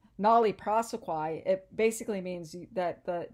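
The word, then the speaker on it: nolle prosequi: textbook talks about called it's uh call uh pronounced nollie prosequie it basically means that the that we are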